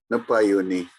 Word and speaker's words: Napayuni: Napayuni. I think the stress is on the first A, Jonathan.